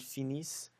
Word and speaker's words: finissent: So you'll notice that for the il and the elle with an S, you don't pronounce the ENT. You still don't pronounce it, but make sure that you emphasize on the is.